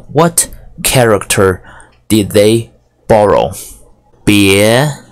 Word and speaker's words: 八: pronounced the Asian is ba ba ah ba first tone what does it look